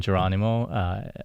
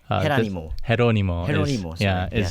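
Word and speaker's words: Jerónimo: So I used to pronounce his name Geronimo. Being an American, I am, but Herónimo. It's what I've been corrected multiple times by the family members as I was interviewing.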